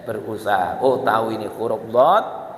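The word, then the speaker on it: ض: Oh tahu ini huruf dhad, yaitu caranya bagaimana tuh? Lidah, tepi lidah diputar.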